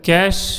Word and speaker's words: cache: next जो आपका है वो है कैश मेमोरी, या इसको कैशे भी कहते हैं, प्रोनाउंसिएशन कुछ भी हो